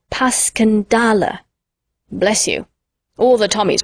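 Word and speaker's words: Passchendaele: was so strange to hear you call it passion dale why if i may ask because that's the way i pronounce it to myself but i looked it up and it's more like pascandala bless you all the tummies call it passion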